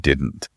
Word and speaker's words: didn't: Now, pay close attention to the word didn't. Native speakers rarely say did not, and they barely pronounce the T at the end of didn't.